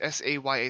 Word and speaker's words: saya: to pronounce it fully it's s-a-y-a so i think it's saya yeah it's it's it's